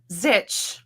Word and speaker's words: Zych: So my last name is pronounced like pillow and your last name is Zitch, like stitch.